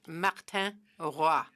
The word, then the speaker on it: Martin Roy: Chair, his name is pronounced Martin Roy.